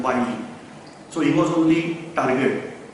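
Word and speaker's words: Wyllie: Many people are saying Willy, we are pronouncing as Curzon Wiley.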